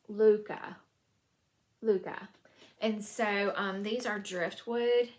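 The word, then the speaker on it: Lykke: And this is pronounced Luca.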